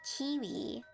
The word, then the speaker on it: Keywe: Quinn, it's called a kiwi. Like the bird or the fruit kiwi, but it's spelled Keywe.